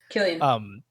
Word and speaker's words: Cillian: I mean, Cillian Murphy, or I guess Killian Murphy is how you say it. Killian.